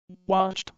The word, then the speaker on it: watched: Watched with a t sound at the end.